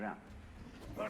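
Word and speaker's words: 仁: spelled Jen for reasons best known to Chinese scholars. Attack. On my way. I don't know what they are. Enemy It's pronounced spotted. Ren.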